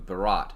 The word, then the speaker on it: Bharat: name from India to Bharat how do you pronounce it like a th shot at the end yep th at the end and BH in the beginning for what it's worth